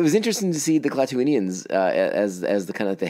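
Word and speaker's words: Klatooinians: Jesus, I'm going to say this wrong all the time. It's Klaatuinians, and I already said it wrong once.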